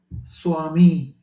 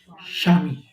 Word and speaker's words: Swami: Bengali because consciousness so typically I would have said Swami I come to the Bengali pronunciation now I make an effort to say shami right it takes my